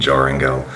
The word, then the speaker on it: Joringel: When I was young, of course, I didn't understand how the European J is pronounced, and so I thought it was Jorinda and Joringel. But now that I know better, I will be pronouncing it in the correct German way.